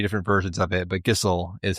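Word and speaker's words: Gysahl: Gissel. Gissel is the actual pronunciation for the greens. I had to try 3 different versions of it, but Gissel is how you pronounce the Gissel greens.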